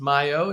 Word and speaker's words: Mayo: being yeah so um technically it would be pronounced Mayo if we were going to say it in my Hispanic heritage um so yeah that